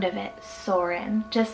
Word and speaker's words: Soren: I have Soren, spelled S-O-R-E-N, Soren.